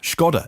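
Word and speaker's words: Škoda: And they are the Seat Mi, the Skoda, or Skoda even, because it's Czech, if I say it properly.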